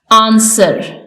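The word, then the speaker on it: answer: last है हमारे पास डब्लू आंसर इसमें डब्लू साइलेंट है नेक्स्ट रैपर इसमें डब्लू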